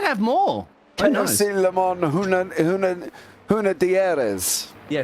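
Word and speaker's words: Hunaudières: KFC Le Mans Huna Dieres. Yeah, Huna Diaz. I think that's the one. I couldn't pronounce that one. You got it right. Huna Dieres.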